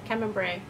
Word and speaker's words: Camembert: umaibo mozzarella and camembert cameron bray kemmembre that's how it's pronounced the savory and crunchy